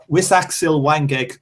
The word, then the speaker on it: Wisaksil Wangek: I'm going to say this one properly because everybody fucking doesn't pronounce this. Wisaksil Wangek Shrishakhet Sorungvasai.